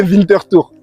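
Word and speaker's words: Winterthur: tu signes au FC Minton Tour. Exactement. Voilà, je l'ai bien prononcé Winter parce qu'il y en a beaucoup qui se moquent de moi quand je l'ai prononce les gars. FC Vinter Tour.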